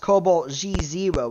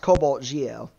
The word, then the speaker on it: CobaltGe0: out the 040 but it's not pronounced Cobalt G zero it's it's still pronounced Cobalt Geo exact same thing it's